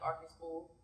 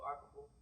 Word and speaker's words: Arkorful: And did I say it right? Arkorful. Yeah, you said it pretty well. You looked at her like this. Nah, I mean, you can just say like Arkorful. So Arkorful. Amaarkorful. No, Arkorful. Amaarkorful. Okay, you said it. You got it.